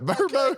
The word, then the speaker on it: VRBO: And even on the Tim Tebow commercial, I've heard it Verbo, not Vrebo.